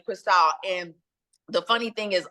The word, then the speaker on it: Chrystale: it that way that she spelled it so people would attempt to pronounce it like Crystal like the champagne but honey my family